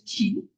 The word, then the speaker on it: qi: So qi is qi, which is pronounced as qi.